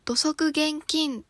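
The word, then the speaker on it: 土足厳禁: これは土足現金と読みます。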